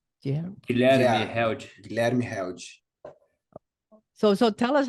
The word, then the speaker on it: Guilherme Held: pronounce his name? Yeah. Guilherme Yeah. Held. Guilherme Held.